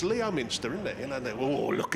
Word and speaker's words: Leominster: You know where we've just been to Leominster, right? They don't pronounce the O. Well, why put it in there then?